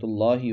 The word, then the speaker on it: اللہ: اللہ یستہزئ، اللہ یستہزئ، یہاں لفظ اللہ کو پر پڑھنا ہے کیونکہ لفظ اللہ سے پہلے حرف پر زبر ہے۔ اس کا ہجے کیسے کریں گے؟